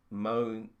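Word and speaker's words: Romijn: go the mysterious one rebecca monin is how you pronounce her surname i was really worried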